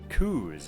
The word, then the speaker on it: Kuz: Kuz, okay. It's pronounced Kuz, I shall not forget that.